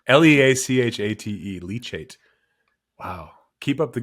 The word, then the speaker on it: leachate: We really We really should have looked up the pronunciation on that. l e a c h l e a c h a t e leachate Wow.